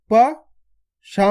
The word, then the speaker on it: पशु: तो कैसे पढ़ेंगे, प, शा में छोटू ऊ की मात्रा शु, पशु। आपको पशु खींच के नहीं पढ़ना, पशु।